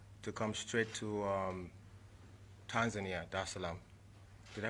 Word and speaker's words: Dar es Salaam: of the 7th, to come straight to Tanzania, Dar es Salaam. Did I pronounce that right? Yeah, Dar es Salaam.